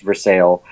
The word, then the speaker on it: Versailles: called Versailles there that it's spelled Versailles but it's pronounced for sale and I will go